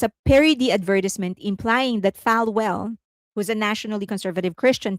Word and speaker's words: Falwell: So, it's they're kind of like saying, Falwell, it is pronounced Falwell.